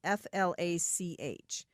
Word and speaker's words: Flach: It's pronounced Flach, but it's spelled Flach.